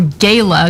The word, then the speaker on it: Gala: Representative Alexandria Ocasio-Cortez attended the Met Gala, or Gala, depending on how you pronounce it. I think Gala sounds weird, but nonetheless, she decided